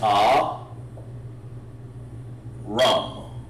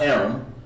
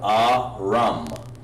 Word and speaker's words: Aram: of course his uh the way you where you pronounce that is ah rum just like that aram not aaron but ah rum you have to give that a the full h sound over there off of